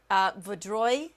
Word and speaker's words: Vaudreuil: There's the latest tornado warning for Laval, Montreal Island area, Vaudreuil, I believe is how you say that.